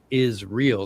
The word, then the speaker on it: Israel: It's written out Love Israel, like the country. It's what it looks like. Right. But each one of them has a name with is real, and they actually pronounce it out, is real.